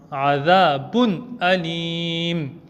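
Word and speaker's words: عذاب أليم: Donc, on fera le izhar, c'est-à-dire on va lire le tanwin clairement sur le bas sans faire de runna. Adhabun alim et non Adhabun alim.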